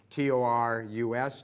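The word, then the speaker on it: torus: a torrid shape everywhere so it's not spelled like the astrological bull but taurus being tor us taurus and that thus it's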